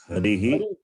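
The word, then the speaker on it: हरिः: So therefore you have to say, pronounce properly. Harihi, Hari, Harihi.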